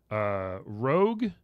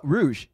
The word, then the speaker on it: Rouge: Rogue the Bat from Sonic the Hedgehog. Oh, Rouge. Rouge. Ah. It's spelled. Oh wow, so cute. Oh, it is Rouge.